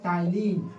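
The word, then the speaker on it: ptyalin: Salivary amylase बोलिएगा, या तो इसे हम लोग कहते हैं टाइलिन, पी साइलेंट है।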